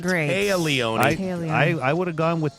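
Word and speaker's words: Téa Leoni: So pronouncing her name wrong is not a good start. Not a good Taya, start. Not great. Taya Leone. I would have gone with Tia, too, to be honest, but I heard her in an interview.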